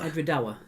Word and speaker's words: Edradour: I've forgotten how to pronounce it again already. Edrador. Edradour.